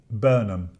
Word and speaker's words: Burnham: mayor gets his moment, what how do you pronounce his name? Burnham.